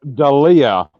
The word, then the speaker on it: D'Elia: Chris D'Elia.